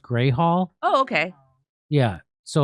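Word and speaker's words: Grewal Hall: It's spelled Gruwall, but it's pronounced Gray Hall. Oh, okay. Yeah. So it's pronounced Gray Hall, and it's fitting because in Lansing, Michigan, it's gray most of the time.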